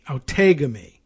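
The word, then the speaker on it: Outagamie: let's let's click on this one how to pronounce it see what they say don't take on me oh tegame you think you've taken me yeah i heard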